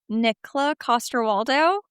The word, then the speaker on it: Nikolaj Coster-Waldau: And I'm I mean, I I said so I'm going to Hopefully I'm going to pronounce his name correctly. I like Nikolaj Coster-Waldau.